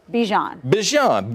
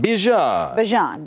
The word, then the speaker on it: Bijan: Bijan. Bijan.